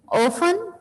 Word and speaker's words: often: ऑफन, many times. OFTEN, ऑफन. इसमें बेटा T silent होता है, हम इसको ऑफन बोलते हैं.